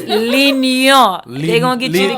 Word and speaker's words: L'Union Suite: You got to say it right. L'Union Suite. That ain't even it, Winie. That ain't it. It's L'Union.